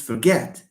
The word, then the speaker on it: forget: teacher I forgot no it's I forgot not I forgot forgot forgot there's the difference so it's not forget it's forget forget for is just a weak one forget get is the one that is stressed because it's a verb